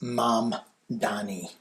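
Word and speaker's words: Mamdani: Is that Is that how you pronounce it? Hang on. Yeah, it's M Dani.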